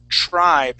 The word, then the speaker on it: tribe: is going to be tribe so we're going to use a long i sound here you'll you'll hear